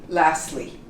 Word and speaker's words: lastly: is the last word lastly we don't pronounce the T we just say lastly okay you we don't